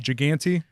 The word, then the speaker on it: Giganti: Giganti? Giganti.